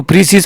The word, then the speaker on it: précis: द एस is only pronounce it is plural. देखो अगर हमारे पास सिंगुलर ये यूज होगा तो इसे हम प्रीसी कहेंगे, लेकिन अगर ये हमारे पास प्लूरल हम इसे यूज करेंगे तो प्रीसीज हम कहेंगे.